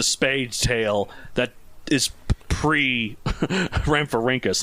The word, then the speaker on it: Rhamphorhynchus: The only one that's phonetically there, and it's even only phonetically like phonetic PH, is the faux. So it's Rhamphorhynchus.